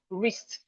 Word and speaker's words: wrist: We have wrist. The W here is silent as well.